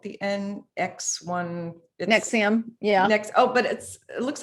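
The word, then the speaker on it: NXIVM: Is that how you pronounce that called? The NX1. Nexium.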